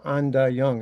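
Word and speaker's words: Ain Dah Yung: And then the following year, I got a job at this place called Anda Young. It's spelled AIN.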